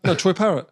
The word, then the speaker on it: Troy Parrott: Have I said his name wrong there? No, Troy Parrott.